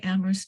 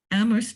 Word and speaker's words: Amherst: Amherst Neighbors is all one word, and the Amherst has an H in the middle of it, and so don't forget to type that in. We don't like to pronounce it, but we need it when we're writing it out.